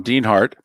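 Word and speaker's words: Dienhart: stay safe too Tom Dean Hart and by the way Dean har spelled D n d i en pronounced as if it's two e but d i n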